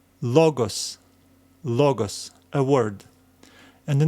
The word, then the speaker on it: logos: This is our accent, which means that we will need to stress this letter, this syllable as we read it.